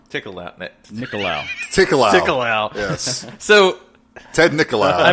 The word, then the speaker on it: Nicolaou: We're going to be talking about 1986 TerrorVision, directed by a dude I can't pronounce his last name. Ted Nicolaou. Nicolaou.